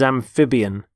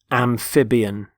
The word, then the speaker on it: amphibian: the first word is amphibian amphibian notice the stress on the middle syllable amphib amphibian there are animals such